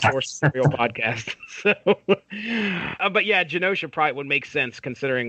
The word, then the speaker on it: Genosha: with gun OSHA and Genosha so are we going with us is it a soft key is that a soft G that's how I've always pronounced it said Genosha sounds good to me